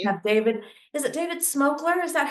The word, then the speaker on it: Smokler: Is it David Smokler? Is that how you pronounce it?